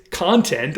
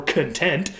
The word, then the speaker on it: content: Of course, the noun and adjective form of this is content or content. Depending on how you pronounce it, it's going to be a noun or an adjective.